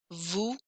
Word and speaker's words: vous: Français, français, sport, sport, vous, vous, salut, salut. So I don't hear those final consonants. I hear everything up until the final consonant.